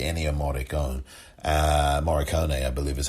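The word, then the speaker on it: Morricone: excellent composing especially any of mordek own uh moricone i believe is how you pronounce his last name but also there are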